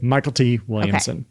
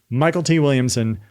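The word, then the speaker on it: Mykelti Williamson: So, he spelled it phonetically as a stage name presumably just to stand out.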